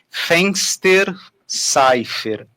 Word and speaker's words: Fensterseifer: Ela chama-se Cristiane Fenster-Seifer. Acertei, Cris? Perfeito. É exatamente assim que se pronuncia.